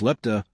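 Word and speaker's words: λεπτά: The 5 euro cent coin from Greece dated 2002, also known locally as 5 lambda-epsilon-pi-tau, pronounced lepta, the plural of lepto, meaning cent in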